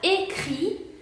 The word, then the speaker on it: écrit: Después tenemos la palabra écrit. Écrit se pronuncia écrit porque aquí tenemos una T final que no se pronuncia.